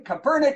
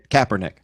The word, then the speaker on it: Kaepernick: it in response Colin Kapernick said wait what you have to say his name right Kaepernick Kaepernick yeah next week you're